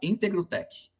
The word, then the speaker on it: Integrotec: Chama Integrotec. Integr. É, o T é mudo, mas é de é íntegro mesmo, tá?